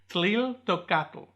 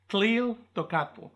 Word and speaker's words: Tliltocatl: The new genus name is Tliltocatl. Tliltocatl. So if you think about it, if you break it down, the first part is like the word teal.